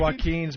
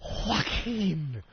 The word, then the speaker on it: Joaquin: Oh, Joaquin. Anybody with a silent J in the beginning of their name is Joaquin.